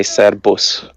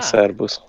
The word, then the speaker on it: Servus: So this is one of the really few words that you say differently than how it's written down. Is it? Yeah, it's very annoying. You know how there's an exception to everything. This is like one of like 3 examples of the one because you say Serbus Servus. like a B.